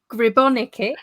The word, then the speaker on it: Gribonika: Today I have got Gribonika.